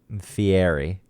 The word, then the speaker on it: Fieri: Fieri.